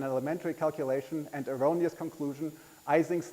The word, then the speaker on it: Ising: Ising's name, which is correctly pronounced Ising, is almost universally mispronounced Ising.